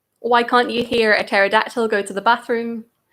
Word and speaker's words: pterodactyl: Number 2, why can't you hear a pterodactyl go to the bathroom? Because the P is silent.